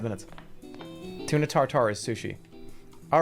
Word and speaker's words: tartare: Tuna tartare is sushi.